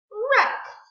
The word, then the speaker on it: wreck: Wreck. The W is silent. We don't say wreck. No, we only hear the R.